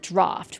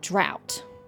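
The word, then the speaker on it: Draught: I'm also going to point out there, Paimon pronounced it draft, which is how I would have pronounced it. He pronounced it drought, which is not how I would pronounce it.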